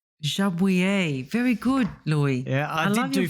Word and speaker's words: Jabouille: I think it's pronounced Jabouille. Jabouille.